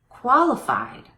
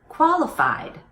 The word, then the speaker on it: qualified: those one more time qualified qualification notice how my voice goes up in pitch on the strong syllable in these two words imitate that imitate the changing pitch qualified qualification good paying attention